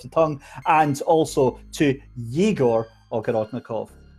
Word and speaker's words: Yegor: And also to Yegor Ogorodnikov. There's no clue, though, that it's a Yegor instead of Igor.